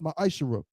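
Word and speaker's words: מעשר: chapter 3 verses 8-10 means 10th in Hebrew and is pronounced my ishara ten percent of every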